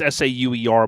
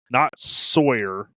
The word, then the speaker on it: Sauer: Now it's Sauer, but I still say it wrong. We talked about this too when I was with him. It's not Sawyer.